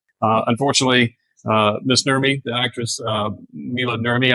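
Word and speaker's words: Maila Nurmi: Unfortunately, Miss Nurmi, the actress, Mila Nurmi, I believe is how you pronounce her name.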